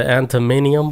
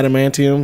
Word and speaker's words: adamantium: Did he thought it was like the antimonium? How do you say it? Yeah, adamantium.